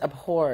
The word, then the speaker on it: abhor: Soft H. But it's not silent.